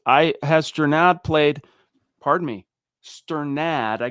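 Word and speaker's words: Strnad: It's Sternad.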